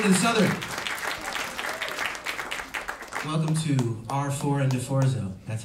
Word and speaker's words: R4ND4ZZO: Welcome to R4 and DeForzo. That's how you pronounce it, in case anyone was wondering.